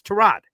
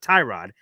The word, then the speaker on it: Tyrod: You don't often hear the Y is silent.